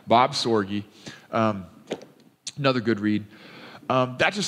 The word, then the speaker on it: Sorge: time anyway by Bob Sorge Soylent perhaps his name either sort is sore G sore you okay pronounce all of the vowels I guess all right Bob sore G another good read that